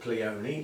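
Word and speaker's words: Pleione: The pleonies. Are they pleonies or plees? I've always thought of them as pleon, but I've heard them pronounce pleonies. And from somebody who's got the national collection who pronounces it pleony, I'll run with that.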